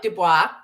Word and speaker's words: Dubois: Well, it's like probably us people like settlers like Dubois. If you look at how Dubois spelled, the S is silent.